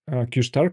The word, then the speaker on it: Q*: of the Breakthrough or the reuter news qar pronounced qar could be a breakthrough in the startup search